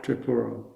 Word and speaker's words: Tripura: Well, is it the same again with trip, not try? Tripura.